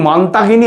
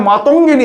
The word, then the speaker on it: মাতঙ্গিনী: সারনাল নয় আরে শোনেন মানতাহিনী হাজরা নয় মানতাহিনী হাজরা নয় মাতঙ্গিনী হাজরা যদি বলতেই হয় ওদের লেখাগুলো পড়ে নেবেন আপনারা।